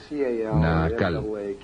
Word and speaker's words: Naacal: Se llamaba Naacal. N a c a l o n a cal, depende de cómo lo quieran pronunciar.